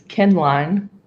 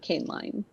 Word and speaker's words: Kenline: Also, Thomas's is Kenline. Kenline, not Caneline.